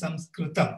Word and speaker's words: Sanskrita: It was written those days, the Arya tongue called Sanskrita. It is not Sanskrit, it is Sanskrita. You have to pronounce it only as Sanskrita.